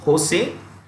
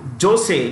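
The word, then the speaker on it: José: j o s e Jose in Spanish the J is pronounced with an H okay so Jose becomes Jose j o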